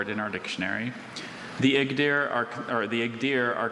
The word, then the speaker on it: Igdyr: The Igdir are are The Igdir are considered one of